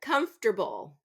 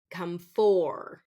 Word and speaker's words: comfortable: We don't want to pronounce that comfor, comfor. Native speakers, we reduce this to comforter, comforter instead of comfor, comfortable, comfortable.